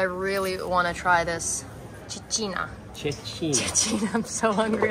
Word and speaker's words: cecina: Cicina. Cicina, which is the chickpea flour pizza that it's famous, known in Lucca.